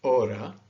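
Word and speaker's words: hora: two different pronunciations okay one is at the beginning of a letter it is silent so these words this is aura or ogi and elena okay you so you don't hear the age here aura okay the h when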